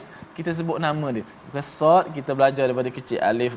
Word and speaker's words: Sad: Ada setengah tu doktor dia baca soq. Dia qalqalah dengan qaf pula. Ada saya jumpa baca sof. Dia baca surah sof dengan fa mati. Maka sad ejaan dia sa alif dal.